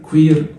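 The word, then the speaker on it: cuir: اون كوير عندك العكس، اليو لو جيت بعديها اي تتنطق وي، وي زي ما علي ربيع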